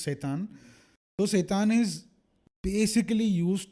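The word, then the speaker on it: seitan: yeah but it it's it's spelled s e i t a n it's pronounced satan so satan is basically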